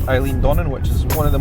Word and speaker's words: Eilean Donan: Just to clarify on my mum's bad pronunciation of that, it's actually Eilean Donan, not Eilean Donan as she wrongly interpreted it.